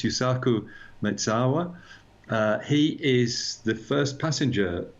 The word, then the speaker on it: Yusaku Maezawa: So this Japanese billionaire, you and I have spoken about him before, and I'm sure I've mispronounced his name before. I think it's Yusaku Maezawa.